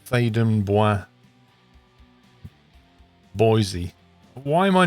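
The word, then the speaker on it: Theydon Bois: And it's actually a French word. It's Thaden Bois. And the English pronounce it as Thaden Boys.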